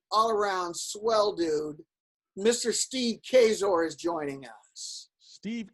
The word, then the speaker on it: Kaczor: swell dude mr steve kazor is joining us steve kazor steve yes the she is silent there he is hi steve hello keep that c silent that's what we always